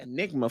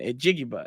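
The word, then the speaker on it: Njigba: So I was like, I thought it was like Enigma for the longest time. And then a Jigba. And then I finally got it right.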